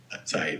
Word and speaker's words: Saeed: Is it Saeed? Is that how you say it? Saeed, yeah. Nice.